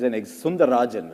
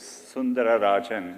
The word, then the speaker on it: Sundararajan: One of the things I read about you, it said Sundar Pichai is Sundarajan, right? To give you the whole name. It actually was Sundararajan. No one could pronounce it, yeah.